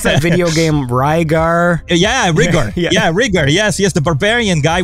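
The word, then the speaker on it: Rydyger: Riediger. So that's another interesting story because it's German.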